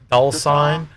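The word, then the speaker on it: Dullsign: Dulcine. The sign is here. Dulcine is in D-U-L-L-S-I-G-N. Dulcine. Dulcine. Dulcine. Da as in the.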